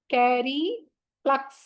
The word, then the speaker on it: cereplux: Chanting इसको करेंगे हम कैरी प्लक्स, कैरी प्लक्स, कैरी प्लक्स, कैरी प्लक्स।